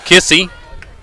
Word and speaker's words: Kissee: It'll bring up Kissy, the center fielder. That's Kylie. And, of course, her last name, I think I spelled it earlier. I'll spell it for y'all again. It's Kissee. First name Kylie.